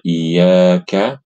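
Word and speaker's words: إياك: Jadi yang benar adalah kita membaca tasdidnya dengan proporsional, dengan pas, tidak terlalu berlebihan, tidak juga menganggap enteng ya. Yaitu sekedar dihentak saja, Ibu-ibu.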